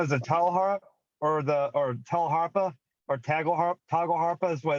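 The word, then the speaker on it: tagelharpa: You've got your YouTube channel, and you play, and I think it's pronounced tjala harp. Toggle harp.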